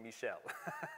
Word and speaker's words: Michel: in uh in french so if you want to be really smart don't call him michael call him michelle okay because that's the